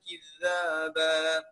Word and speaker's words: كذابا: لغ ولا لا يسمعون فيها لغوا ولا كذابا، لغوا ولا كذابا. خلي بالك من الذال، اوعى تقول لي كز، سامع ازاي بحرف الزايدة؟ لا، خلي بالك ننطقها بحرف الذال، نطلع لساني بين اسناني كده وتبقى ايه؟